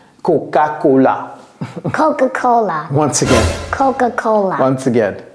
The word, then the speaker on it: Coca-Cola: all right next CA CAA please help us pronounce cocaa Coca-Cola once again Coca-Cola once again cocaa all right